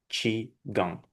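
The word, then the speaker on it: qigong: write this way but it's better to pronounce chi. Mhm. Uh okay and standard pronunciation will be chiong chi gong.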